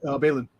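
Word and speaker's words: Baylan: a fact that the Braylon character, or what? How do you say his name? Is it Braylon? Balin. Balin. The Balin and the other character that's with him, his apprentice person.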